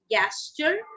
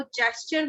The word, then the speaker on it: gesture: Many people pronounce it gesture, but let me tell you, G के साथ जब E आता है तो वो gesture होता है, ना कि gesture. Okay, it is gesture.